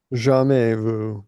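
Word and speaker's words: jamais vu: Jame Vu the S at the end is silent.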